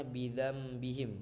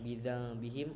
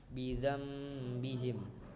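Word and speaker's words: بِذَنْبِهِمْ: ada sebenarnya mim tersebut cara membacanya bidzambihim bukan bidambihim atau bidzanihim melainkan bidzambihim jadi seolah-olah di Nun tersebut terdapat mim yang padahal tidak ada eh oke mungkin E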